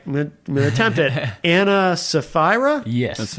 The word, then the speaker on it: Ana Sapphira: Anna Safra.